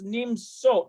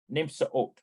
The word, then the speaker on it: נמצאות: But let me double check that, how you pronounce that, Nimsot. Raquel Verina, Nimsot Babayit Cafe. Nimsaot. There we go.